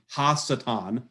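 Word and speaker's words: הַשָּׂטָן: the left there are pronounced satan so you pronounce this going right to left in hebrew hassetan the satan and so this is not satan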